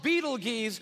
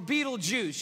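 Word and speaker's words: Betelgeuse: heard about this star it's called Beetle geese or Beetle Juice you can pick your pronunciation I'm obviously going with Beetle juu and Beetle Juice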